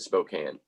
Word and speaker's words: Spokane: ] yeah it's it's it's said not how it's spelled like i would say because it has the e at the end i want to say it's spokane right yeah they pronounce it spokane but uh no he's